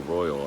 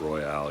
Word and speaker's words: Royale: on an eye out or I'll Royal I should say found out it's not Royale even though that's the way it's spelled so yeah that's about